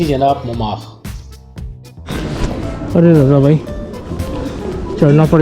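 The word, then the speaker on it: Montmartre: ये है जनाब मोमाख, जिसे हम अपनी प्रोनाउंसिएशन में कहते हैं मोंटी मार्टे, सॉर्ट ऑफ दैट।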